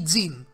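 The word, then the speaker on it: Ging: Συγκεκριμένα θα κάνω μια ελάχιστη αναφορά στον πατέρα του Γκον, τον Γκιν. Ή Τζιν, όπως τον λένε στη σειρά. Γιατί οι Ιάπωνες το G το προφέρουν σαν J.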